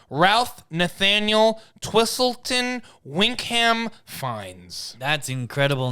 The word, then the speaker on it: Fiennes: the patsies the patsies Ralph how did you pronounce his name before fines but it's spelled Phoenix Anyway full name Ralph Nathaniel twistleton winkham finds that's incredible name and